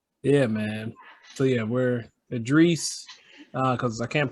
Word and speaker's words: Edreese: Edreese works, Edreese, either one. Okay. Edreese? Yeah. Like Ed Reed? Yeah. Okay. Well, like the way we pronounce it, like in Farsi is just like Idris, but I don't expect Okay.